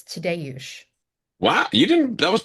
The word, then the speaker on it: Tadeusz: It's Tadeusz.